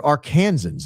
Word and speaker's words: Arkansans: A longtime viewer, first time super Arkansans is how it's pronounced.